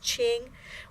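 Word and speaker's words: 青: character Ching means green that type of green pronounced Ching we add a Sun to the sound Ching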